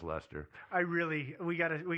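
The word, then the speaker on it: Leicester: spelled it's called light challenge uh but let's pronounce lester i really we gotta we gotta start a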